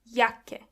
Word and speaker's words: Jacke: Jacke. When you see a C and K together, they are pronounced as K.